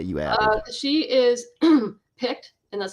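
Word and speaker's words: Pict: Uh, she is picked and that's spelled P IC T.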